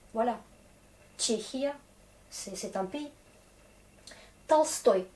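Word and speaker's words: Толстой: Tolstoï, ne pas confondre avec Tolstoy, gros. Parce que Tolstoy, ça s'écrit avec E ici. Du coup, on est Tolstoï, l'accent sur O. Mais je pense que le principe reste quand même.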